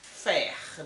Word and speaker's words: faire: Ó, aqui como eu tenho R, eu vou pronunciar o R. Faire, né?